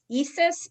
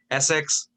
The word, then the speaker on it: Essex: are you still on ESSIS, ESSIS Street? How do you say it? Essex.